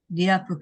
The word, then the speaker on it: 리아프: 제가 그래서 그거 언뜻 읽을 때 라이프라고 읽기 쉽다고 했는데 라이프가 아니고 리아프였었죠. 리아프 가든이라고 해서 큰 식물원,